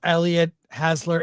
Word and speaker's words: Elliott Hasler: Hey, welcome to the show, Elliott Hasler. Is that the right pronunciation? Yeah, it is. It's spot on. Most people get it wrong, but you got it right.